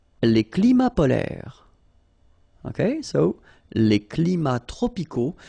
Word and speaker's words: polaires: So same thing here. E and S are not pronounced. Polaire, okay?